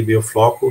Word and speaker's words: biofloc: Às vezes falo biofloco, como se fala em português, pero biofloc em espanhol.